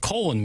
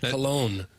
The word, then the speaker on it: Colon: In addition to climax Michigan, they also have colon Michigan. Oh, are you sure it's not cologne? It's spelled like colon.